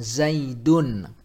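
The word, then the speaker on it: زيدٌ: Contohnya misalkan Zaidun. Zaidun. Nah, jadi ada nun yang sukun, ya, dalam ucapan tersebut, dalam pelafazan tersebut.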